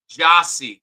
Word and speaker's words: Jossie: Oh wait, it's pronounced Jossie. Thank you for letting me know. So Jossie Burris, thank you. I think that's how you say it.